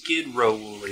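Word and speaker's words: Sedro-Woolley: It's pronounced Skid Row Woolly, by the way.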